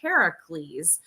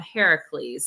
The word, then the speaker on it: Heracles: everyone pronounces it but if you're trying to be true to the Greeks you got to call him Heracles and we have a